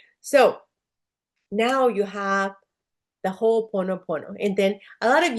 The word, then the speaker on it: Ho'oponopono: So now you have the Ho'oponopono. And then a lot of you get hung up, like I did, and I still do. How do you say Ho'oponopono, right?